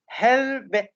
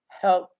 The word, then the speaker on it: helped: pronunciation are connected together we don't say helbet no this is not correct we say helped because not kiss that